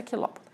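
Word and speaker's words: Chilopoda: Escreve-se xilópoda, mas a gente pronuncia quilópoda.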